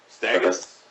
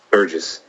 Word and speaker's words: Sturgis: just want with it stus no what is it Sturgis Sturgis okay they do at